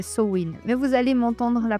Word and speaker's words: Samhain: Bah alors déjà si on prend le commencement à mine, on appelle sa mine la samin soin, sa vraie prononciation c'est soin, mais vous allez m'entendre la prononcer de plein de façons différentes.